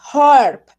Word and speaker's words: harp: Pero de todas maneras les voy a decir, miren, la primera es un arpa y se dice harp, ¿sí? Con J, harp.